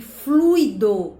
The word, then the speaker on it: fluido: e não louis ou seja a gente deve pronunciar gratuito fortuito e fluido porque o assento a sílaba tônica é oo